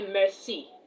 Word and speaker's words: merci: You want to tell someone thank you in French, you say merci. Merci. m e r c i. Merci. Uh I can see someone is joining. Um E D Adventures, you're welcome. Merci.